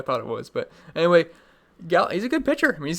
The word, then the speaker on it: Gallen: It is Gallen, so we're good to go. I thought it was. But anyway, Gallen, he's a good pitcher.